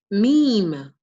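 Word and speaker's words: م: Meme. Meme. It makes the sound of M.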